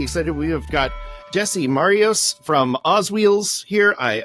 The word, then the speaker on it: Marios: everything is so okay so is it it's Mario's is how it's pronounced Jesse Marios yeah like like Mario with